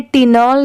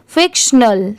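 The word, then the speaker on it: fictional: एन ए एल स्नल यहां पर टी की साउंड ट की नहीं आएगी इसे टिनल नहीं पढ़ेंगे यहां पर स्नल की साउंड आएगी फिक्शनल ठीक है ये है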